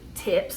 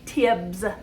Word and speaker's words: tibs: All right, so the dish that we're going to be making today is called beef TIBS. I wanted to call it tips. It's not, it's TIBS.